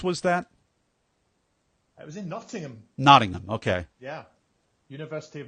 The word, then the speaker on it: Nottingham: Nottingham is what the Americans say, but Nottingham, we don't pronounce the H.